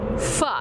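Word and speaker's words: phở: And your specialty is pho. Am I saying it correctly? Yes. Okay. Yes, my specialty is pho.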